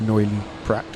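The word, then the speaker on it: Noilly Prat: I believe you pronounce a T on the end of Neuilly-Prat.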